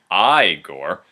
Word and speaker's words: Igor: victor von frankenstein also has marty feldman playing igor actually it's pronounced igor right sorry i gore and in case you're wondering yes those are